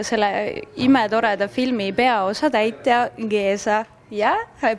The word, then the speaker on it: Géza: Ja minu kõrval on siis selle imetoreda filmi peaosa täitja Géza. Yeah, I pronounce it right.